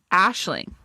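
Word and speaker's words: Aisling: Let me let me Google those like pronounce. Oh, Irish. Ashling.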